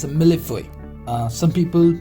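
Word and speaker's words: mille-feuille: It's a millefeuille. Some people pronounce this one as a millefeuille, also millefeuille, but this is like millefeuille, right?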